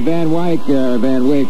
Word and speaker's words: Van Wyck: Incidentally, if you're on the Van Wyck, which is the way it should be pronounced, because I've always pronounced it that way ever since the first time I got my ticket for going over 35.